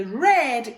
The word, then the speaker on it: read: On va dire read à la forme présente et red qui se prononce exactement comme la couleur au passé.